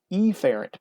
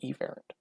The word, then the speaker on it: efferent: i say efferent what i like to do is be really really stressed on that first letter i will say afferent or efferent and that's not really the way that they're pronounced normally it is afferent or efferent but those don't really sound too much different so i overdo it afferent and efferent so how do we